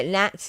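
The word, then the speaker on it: gnats: you weigh yeah yeah nats is another word silent g yeah i have actually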